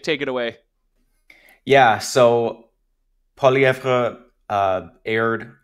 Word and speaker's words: Poilievre: Really Frenching up the pronunciation today. We're used to the Anglo, just Poilievre. You're doing it the... I know, I know. I always just pronounce it in the French way, and I've kind of